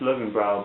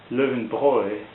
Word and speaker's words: Löwenbräu: be a list there and I thought it's pronounced living brow but it's actually in German the German folks they pronounce it Living Boy which means the lion Brew anyways before that